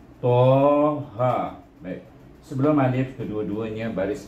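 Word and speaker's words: طه: Jadi cara membacanya to alif eja. Dulu kita dah belajar mengeja. Kalau bunyi to macam mana? To alif. Bunyi ha macam mana? Ha alif. Eh? Jadi bila kita baca Toha.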